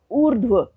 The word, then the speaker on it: ऊर्ध्व: देखते हैं, जैसे ऊर्ध्व। ऊर्ध्व आप उच्चारण से समझ पा रहे होंगे कि रेफ र लगा तो व के ऊपर है, उससे पहले स्वर रहित ध है और रेफ र का उच्चारण ध से भी पहले हो रहा है, ऊर्ध्व।